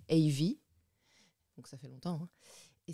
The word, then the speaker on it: Evie: la ville et donc mes initiales a et V il se trouve que j'avais une bande d'amis qui avait pour habitude de s'appeler par leurs initiales mais prononcer à l'anglaise du coup moi ça a donné Ivy donc ça fait longtemps